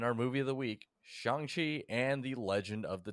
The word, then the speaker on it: Shang-Chi: host david uh it's shangchi here in the united states and uh i'm stuart and shang chi pronounces it shanxi so that's what i'm gonna call it and i'm ben yeah